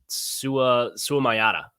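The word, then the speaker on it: Suamataia: Kingsley Suamayata, I believe, is how that's pronounced.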